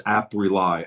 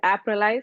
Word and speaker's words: AppRely: So it's AppRely, R-E-L-Y. You said it right, Doug.